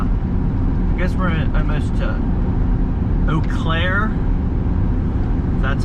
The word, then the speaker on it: Eau Claire: up in uh i guess we're almost to eau claire that's how you pronounce it that's what the locals told me